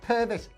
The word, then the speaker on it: Purvis: perves uh purvis purvis what it's purvis that's how you say it peter purvis i was